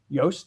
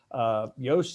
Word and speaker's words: Joost: As some people can see in your screen, Yoast is spelled Joost, yet the company is spelled Yoast.